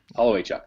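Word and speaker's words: Holowaychuk: Does anybody know how to pronounce his last name? Holloway Chuck. Holloway Chuck, that's it.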